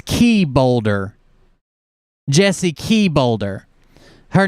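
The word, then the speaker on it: Czebotar: boulder yeah that's it it's not it's not g bolter it's key boulder jessie key boulder her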